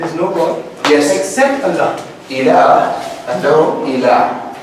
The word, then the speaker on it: Allah: Allah. They dropped the hamza and they merged this lam into the other lam. The lam, when it comes after the lam of al, do you pronounce the lam? No.